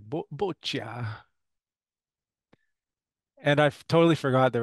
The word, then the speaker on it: bocce: So in French, maybe a French accent is boccia, or even maybe a British accent is boccia. But I'm pretty convinced that in North America we say bocce.